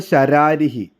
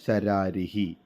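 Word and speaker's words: ശരാരിഃ: ശരാരിഹി. താറാവിനാണ് ശരാരിഹി എന്ന് പറയുക. കുട്ടികൾക്കൊരു സംശയം വരാം, ശരാരിഹ എന്ന് പറയാൻ എന്തുകൊണ്ടാണെന്ന്. നിങ്ങൾ ഓർക്കുക, സംസ്കൃതത്തിൽ ആ വിസർഗം വരുമ്പോൾ അതിൻ്റെ ഉച്ചാരണം വരുന്നത് അവസാന അക്ഷരം ഏതാണോ അതിനനുസരിച്ചായിരിക്കും.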